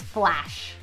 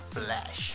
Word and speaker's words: flash: flash i want to i want to over what is it over enunciate the a in this flash flash okay for me flash flash right in italy they pronounce it flesh which is not a